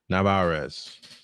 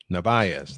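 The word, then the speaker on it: Narváez: Masataka Yoshida will bat for Navarez. I said it wrong. Nvaz. Navayz.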